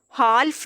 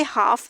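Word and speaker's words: half: हाल्फ नहीं, हम इसको कह सकते हाफ पढ़ेंगे।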